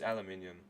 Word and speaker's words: aluminium: I said aluminum well I didn't mean to say aluminum it's aluminium that's the correct pronunciation at least for my